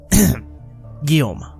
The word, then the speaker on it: Guillaume: It has come to my attention that I've been making a mistake as far as pronunciation goes, so here's a quick retcon. Guillaume. There, that's better.